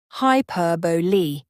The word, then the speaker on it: hyperbole: words for instance when you hear someone say hyperbole in a podcast you'll notice it's pronounced hyperbole not hyperb repeated exposure really helps and don't